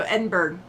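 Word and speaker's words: Edinburgh: DNA too awesome oh I don't pronounce the g at the end okay I will work on it I will work in it on it um so Edinburg or not eded okay nope can't do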